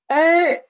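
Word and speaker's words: 二: Last example is er. We have no initial here, and the final is er, and the tone is fourth tone.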